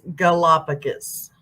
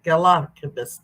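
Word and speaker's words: Galápagos: Just my English teacher over here is Galapagos. Is how you pronounce it. Galapagos.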